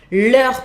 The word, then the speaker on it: leurs: Leurs professeurs, final S à leur. Exactly the same pronunciation than when it was in singular. That happens very often. The final S is mute.